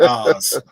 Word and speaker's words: AHS: So that's AHS, but pronunciated Oz.